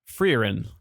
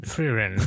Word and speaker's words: Frieren: Frieren. And it's pronounced Frieren. Gizmo would know because it's German. Frieren.